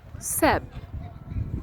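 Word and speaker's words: szebb: to say more beautiful seb seb and there are two b uh letters at the end seb more beautiful in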